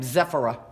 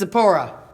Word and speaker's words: Zipporah: good old Charlton Heston Charlton Heston says zephyra that's how he pronounces her name zephyra that's not her name it's sapore so he comes and